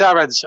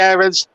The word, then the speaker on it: Aarons: i'm gonna say max aaron's a lot of commentators say aarons some say aarons i'm the i'm in the irons camp um so i'm gonna i'm gonna stick with that pronunciation it's almost like the